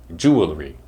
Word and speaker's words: jewelry: to say the word other people might say jewelry which is wrong because there is no vowel between the L and the r sound let's say it correctly together jewelry jewelry it's easy to remember this one because it comes from the word Jewel which has two syllables so when you put r y on the end of it it becomes jewelry jewelry jewelry is an